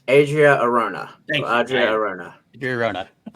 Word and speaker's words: Adria Arjona: I believe it's Adria Arjona.